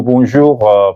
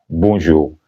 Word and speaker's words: bonjour: bonsoir et non pas bonjour. Bonsoir. N'oubliez pas que le N ici n'est pas prononcé parce qu'il est nasal. Le N dans le mot bonsoir et aussi dans le mot bonjour n'est pas prononcé.